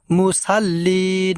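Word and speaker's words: مُصَلِّين: এই জায়গায় ভুল করে থাকি যে বলে থাকি মুসাল্লিন মুসা মুসাল্লিন হবে না বলতে হবে আমাদেরকে মুসাল্লিন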